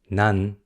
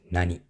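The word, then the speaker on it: 何: Sunday not anymore so what in Japanese has two pronunciations none and Nani now we're going to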